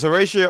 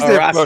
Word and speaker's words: Horacio: See, she's Horacio there. Rodriguez. She's there. No. Stop acting like you were saying it right. Stop acting like you were saying it right. Don't pronounce the H. Just say Horacio.